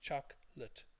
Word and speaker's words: chocolate: before about this word chocolate in English is pronounced Chuck lit okay chocolate and then we talked